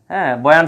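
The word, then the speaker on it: البيان: করতে শিখালেন আল্লামাহুল বায়ানা শব্দটা ছিল বায়ানা কিন্তু আমরা থেমে যাওয়ার কারণে পড়ি কি বায়ান তারপরের অংশে আমরা যাই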